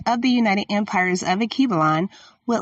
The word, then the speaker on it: Alkebulan: Akibalon is spelled ALKEBULAN.